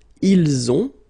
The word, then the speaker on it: ils ont: And then, ils ont. So the link as well, the liaison.